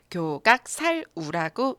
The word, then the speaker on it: 矯角殺牛: 우는 읽으셨을 거 같고요 앞에 세 글자가 문제인 거 같습니다 교각 살 우라고 읽어요 그럼 이제 글자의 뜻